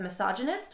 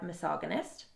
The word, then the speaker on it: misogynist: Okay, I'll end this quick rant review with 3 words in the audiobook that were mispronounced. Instead of misogynist, we had misogynist.